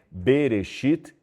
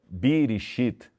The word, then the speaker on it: Bereshit: eu acabei de citar, se lê Bereshit e não Birishit ou Birashat.